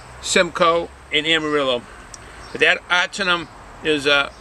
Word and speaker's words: Ahtanum: Now this ahtanum, I know when you see the word, it's spelled A-H-T-A-N-U-M. It's ahtanum.